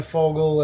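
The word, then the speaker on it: Vogel: got the knowledge of Dan Fogel and spelled with a V. It's a German name, means bird.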